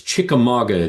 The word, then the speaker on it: Chickamauga: It's it's Chickamauga, Georgia, and most people can't pronounce it when they read it if they're not in local.